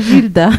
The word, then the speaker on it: Gildas: Ah ouais, mais comme en Madagascar, on prononce pas les Non. As. Oh, des Gilda.